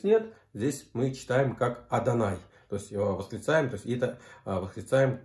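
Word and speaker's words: אדני: хуй йод в вов читается как yahoo но произносится как а данной никакого любого и здесь нет здесь мы читаем как адонай встречаем такие так их решаем господу то есть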